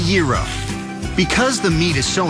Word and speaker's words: gyro: foods is it the gyro is it the hero nope number 46 is pronounced the gyro because the meat is